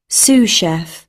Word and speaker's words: sous chef: তো অনেকে সু করতে পারেন, তো উচ্চারণটা কিভাবে করে একটু দেখেন আপনি। Sous chef.